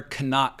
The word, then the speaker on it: Knock: is incredible as well they call him air kanak I always thought it was just knock because that's how i' pronounce it in English but knock is a